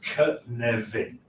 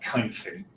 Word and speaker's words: Cynefin: So it's Cynefin. It's not Cynefin.